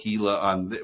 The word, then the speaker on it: Gila: And then and then the following week, Bates corrected it on the show and said, actually, everyone told me it's pronounced Gila. And so then when Nate called it Gila as he read the email this week, Bates was all over it.